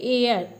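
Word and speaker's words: heir: एच इसमें silent रहता है। इसको हम पढ़ते हैं एयर।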